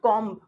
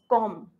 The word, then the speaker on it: comb: It's not comb. It's comb. Whenever you are using MB, B is silent.